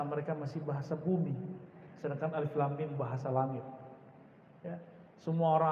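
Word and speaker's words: الم: Karena bahasa mereka masih bahasa bumi, sedangkan alif lam mim bahasa langit. Ya, semua orang Arab bingung. Kita alhamdulillah diizinkan Allah Subhanahu wa taala mendapatkan ayat-ayat seperti ini. Dan dibacanya bukan alamun. Alamun artinya penyakit, sakit.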